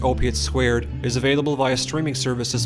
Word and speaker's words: Opiate²: Opiate 2, pronounced opiate squared, is available via streaming services on March 1st with the Blu-ray only visual companion available on March 18th.